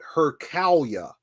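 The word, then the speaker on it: Hurqalya: the mental map of the Arabesque is called hercalia it's a sufic word hercalia is spelled h-u-r q-a-l y a h -u-r-q-a-l-y-a-h and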